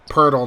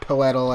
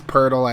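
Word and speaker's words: Poeltl: gets the layup there that's how his last names actually pronounced by the way hurdle not petal as some people say it's Pirtle as they get a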